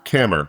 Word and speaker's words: Kammer: And today we have the lovely Kramer. Is it Kramer or Kramer? Kammer, like hammer with a K.